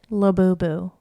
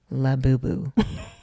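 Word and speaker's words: Labubu: La Boo Boo. La Boo Boo.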